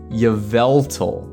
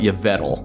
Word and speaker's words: Yveltal: to try which is Yveltal that's right okay I used to call it yal which is that's absolutely not right but look at this